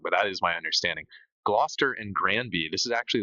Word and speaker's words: Gloucester: Oh, is that how you say Glouester? Uh, Gloucester. Yeah.